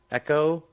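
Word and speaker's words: Ecco: correct you and say I believe it's pronounced Echo and it's a dolphin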